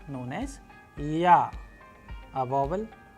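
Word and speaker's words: Я: interesting letter known as Ya, a vowel. And how do we pronounce it? With the help of English approximation word as in yarn, and with the help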